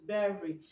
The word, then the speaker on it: berry: Berry. Now the Y there, you pronounce it as E sound. Is E a consonant sound? No, it's not a consonant sound, but a vowel sound.